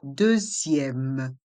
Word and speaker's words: deuxième: Prenez la deuxième. Dans le mot deuxième, les voyelles E et U font le son E et on ne prononce pas le X.